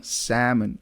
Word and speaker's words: salmon: it reads like it spells like s a l m o n so not salmon M or like you know salmon as you said it salmon oh there is a bunch of them those silent letters right right and there's something about the the vowel sound there the the a sound which is s not s like cuz if you say Salon it's also incorrect like it's s